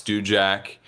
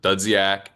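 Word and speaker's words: Dudziak: So my name is Djac. My last name is a little hard to pronounce, but it's spelled D U D Z I A K. And everyone used to pronounce it Dudzak.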